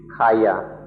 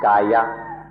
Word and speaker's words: kaya: The first stage of practice is called Kayanupassana, which means contemplation of the kaya, or body. When we speak of body or kaya here, or in Thai it would be pronounced gaya.